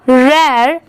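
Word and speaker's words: rare: ओ am from अ रेयर आर ए आर ई यहां पर र नहीं पढ़ेंगे इसे। इसकी प्रोनाउंसिएशन क्या है? रेयर यह है हर्ब।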